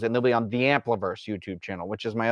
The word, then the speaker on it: Ampliverse: It's spelled how it sounds. It's AMPLIVERSE. Ampliverse, like amplifying universe.